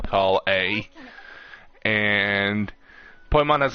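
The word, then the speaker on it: Collei: I'm pretty sure your name's pronounced Kali instead of Call A.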